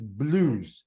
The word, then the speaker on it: blues: But blues is oo. It's not EU, it's blues. It's more direct.